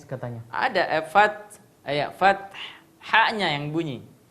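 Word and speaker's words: الفتح: Iya, jadi idza jaa nasrullahi wal fath. Fath. Ada haknya, Pak. Ada bunyi S-nya Pak Ustaz. Hah? Fat. Ada bunyi S katanya. Ada fath.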